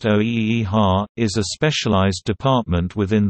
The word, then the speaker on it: OEHHA: The Office of Environmental Health Hazard Assessment, commonly referred to as OEHHA, pronounced OEHHA, is a specialized department